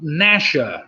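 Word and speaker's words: Gnasher: Number 7, an Abyssinian wide-haired tripound, I got it right that time, was called Nasher, as in Dennis the Menace. Nasher, spelt with a G, of course.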